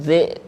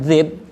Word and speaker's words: الذئب: Fa'akalahu dhi', bukan dhib, hilang hamzahnya kalian.